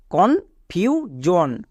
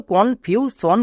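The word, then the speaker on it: confusion: তাহলে এটা কি দাঁড়াচ্ছে কন ফিউজ জন একে আমরা ভুল করেও কনফিউজন বলবো না এস এর দুপাশে যখন দুটি ভাওয়েল থাকবে তখন এখন আমরা এস এর জন্য বর্গীয় জো উচ্চারণ করব যেমন এখানে করছি সি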